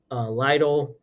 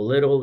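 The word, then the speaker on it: Lidl: then I hit um Lio or little depending how you pronounce it or Aldi's and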